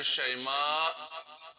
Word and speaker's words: شیماء: ہے، بہتر ہے، لیکن یہ نام ہے شیماء، شین پر زبر، آخر میں حمزہ۔ شیما جو ہے اس کا تلفظ پرونانسیشن غلط ہے، اس کا پرونانسیشن شیما غلط ہے، شیما ہے اصل میں لفظ۔